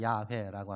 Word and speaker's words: 야훼: 히브리어에는 모음이 없어요. 어떻게 발음할까라고 고민하다가 이거는 야훼일 거야. 그래서 야훼라고 합니다.